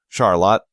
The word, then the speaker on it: Charlotte: must always be correct especially tricky are homegrown pronunciations like Cairo Cairo Illinois and Charlotte Charlotte Michigan whenever in doubt call their City Hall